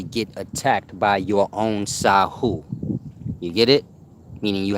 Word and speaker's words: Sahu: now back to the sahu h u truly pronounced like sir this is the judging